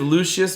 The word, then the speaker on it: Lucius: when the image of lucius malfoy and i have to say it properly because i keep saying luscious around here and mark